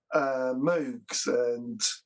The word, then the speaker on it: Moog: So things like Moogs or Moog, as it is pronounced, and Oberheims, and there was another one as well, Prophet 5, I think it was.